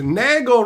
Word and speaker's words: Nagle: the time has arrived Nagle rhymes with Bagel what's up buddy uh